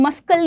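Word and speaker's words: muscle: और बताओ मसल में देखो ना सी नहीं पढ़ रहा हूं मसल नहीं पढ़ते उसको मसल पट जी हां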